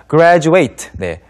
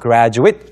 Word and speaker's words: graduate: 코너에서 살펴볼 첫 번째 표현은 바로 라는 동사입니다 graduate네 끝에라고 발음을 해 주시면 졸업하다 뜻이 되겠고요 이렇게 그냥 써 놓고 graduate이라고 발음을 마지막을 조금 짧게 it이라고 해 주시면 졸업생이 됩니다 그리고 졸업생들이 가는 학교 대학원 graduate 뒤에 scho 붙여 주시면 되겠습니다 gradate school 아지도